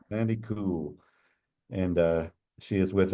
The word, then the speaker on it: Kuhl: we have a Sandy cool with this KL I had to ask her how to pronounce that to make sure we didn't say Cole but it's it's Sandy cool and uh she is